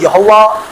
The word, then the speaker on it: یہوہ: 6 evidence کھلے اور مجھے پتا چلا کہ یہوہ اصل تلفظ ہے. یہوہ وہ کہتا اب میں وہ نام لیتا ہوں ایمان سے اور کام ہوتے ہیں.